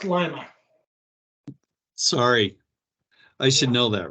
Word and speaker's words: Lima: Pronounced Lima.